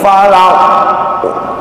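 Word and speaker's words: فلق: Ketika baca qul a'udzu birabbil falaq, falaq bukan falaq tapi falaq. Seperti iqo, bukan iq.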